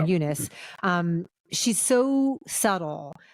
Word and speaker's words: Eunice: say Fernanda Torres as is a Unice is how they pronounce her name Unice um She's So subtle